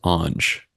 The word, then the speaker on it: Ange: It's usually pronounced Ange. It's commonly mispronounced, but it's so commonly mispronounced that I don't mind. Like any kind of pronunciation is fine, but I think that's the standard pronunciation.